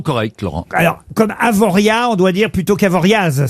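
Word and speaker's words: Avoriaz: exemple je dis almana oui alors c'est la prononciation correcte Laurent alors comme avoria on doit dire plutôt qu'avoriaas c'est bien ça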